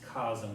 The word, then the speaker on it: Cosme: I say it's cosme, C-O-S-M-E.